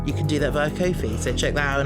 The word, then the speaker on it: Ko-fi: We've also got a coffee now. Ko-fi, how do you pronounce it? Coffee? People pronounce it Ko-fi. Yeah, but it's supposed to be about buying you a coffee, isn't it?